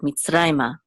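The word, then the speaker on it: מִצְרַיְמָה: Now, so it's mitzrayma, and because the accent is on rai right here, this is where we'll have the emphasis of the word mitzrayma.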